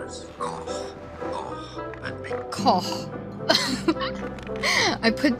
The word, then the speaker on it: Koch: Said because there are different pronunciations, and perhaps it is because it comes from German, and in German it's said as Koch. Koch. And because the H sound from German doesn't exist, there are different pronunciations in English. Some say it Cock. as Cock. Och. Some will pronounce it as Oak.